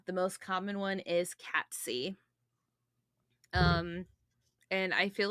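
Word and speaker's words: Cat Sìth: from Star Wars but actually it is cat C it is not th cat c um I looked it all over the internet I looked for all the pronunciations Scottish Gaelic um come here Celtic uh Irish all of it um there's different versions of it but none of them have the th at the end I was seeing the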